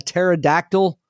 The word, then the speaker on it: pterodactyl: You know why you can't hear a pterodactyl go to the bathroom? Cuz they don't exist? Cuz the P is silent.